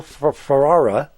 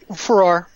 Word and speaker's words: Farrar: We have Will Ferrara. Am I pronouncing that, Will, badly? Farrar. Farrar. Yeah, it depends where you are in the country. Some people say fair. We say Farrar over here.